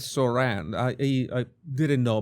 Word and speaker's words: Zohran: Okay, the the the right way to say it is Saran.